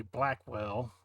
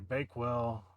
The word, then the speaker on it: Bakewell: But as you can see here, this is Gary Blackwell, or I said his last name wrong, Gary Bakewell, playing Richard Mayhew, and Elizabeth Marmor playing Jessica.